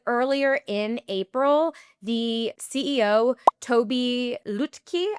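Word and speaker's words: Tobi Lütke: The CEO, Toby Lutke, I believe is how you pronounce it, started speaking strongly about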